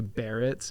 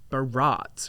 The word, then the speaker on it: Barretts: My name is Barretts, and people would be like, Barats or Bratz.